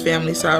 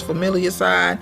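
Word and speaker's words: familicide: You can pronounce it as family side, or you can pronounce it as familiar side, and that's where a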